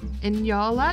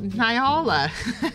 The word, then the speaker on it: Nyala: Yola is next and I definitely know I'm pronouncing that one right because I watched the documentary on inyals not long ago and I was like oh so it's not Nyala I've been saying that for years anyway and yara's got into